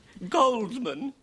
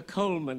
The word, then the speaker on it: Goldman: Goldman. I thought the D was silent. It is pronounced Coleman, isn't it?